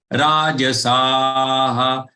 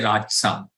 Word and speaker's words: rajasaha: Yaksha rakshansi rajasaha. Keep this J as full because J is followed by a letter A. Rajasaha. Don't say Rajsa. Rajasaha.